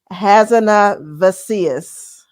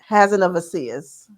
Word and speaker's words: Hazanavicius: Okay, I spelled this out phonetically. So hold on. I'd say now you're like me. Right, it's Michelle Hazanavicius. Hazanavicius.